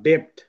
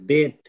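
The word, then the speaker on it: debt: আমরা আমরা পড়বো না ডেপথ ডেপ ডেপ পড়া যাবে না কিন্তু এটা এটা হবে ডেট ডেট ডেট ঠিক আছে নট ডেপ আমরা পড়ব ডেট মানে বি এর উচ্চারণ নাই বি মানে বটা নাই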